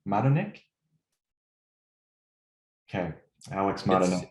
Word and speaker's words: Madonik: Madonik? Okay, Alex Madonik. It's Madonik, yes.